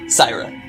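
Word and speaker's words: Syrah: Syra. S-Y-R-A-H. Like Sarah with a twang.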